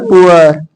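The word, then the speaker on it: poor: अब यहाँ पर ये पुअर ही बोला जा रहा है, लेकिन यहाँ पर क्या है, साइलेंट है ना आर, यहाँ पर पुअर पुअर star fork butter.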